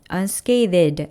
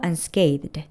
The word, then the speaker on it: unscathed: 발음은 th와 d 사이에 모음이 없어요. unscathed 아니고 unscathed.